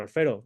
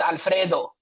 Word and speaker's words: Alfredo: I sense you can, to roll your R when you say my name, brother. It's Alfredo. Not Alfredo. Alfredo.